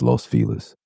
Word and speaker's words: Los Feliz: I know it's pronounced fail, but it's Los Felis.